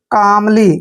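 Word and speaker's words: calmly: पहले एल आता है जब भी एम से पहले एल आए वहां पर एल साइलेंट होता है यानी कि हम एल का उच्चारण नहीं करेंगे तो एम का उच्चारण हम मैं करेंगे और एल को हमने नहीं पढ़ना है और एल को हमने ले पढ़ना है और वाई को बड़ी की मात्रा पढ़ते हैं कामली क्या पढ़ेंगे इसको कामली कामली मींस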